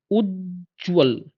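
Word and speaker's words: उज्ज्वल: से रिलेटेड चीज देखो इसका उच्चारण देखो उज्जवल उज्जवल ज ज डबल आएगा उसी तरीके हम लिख सकते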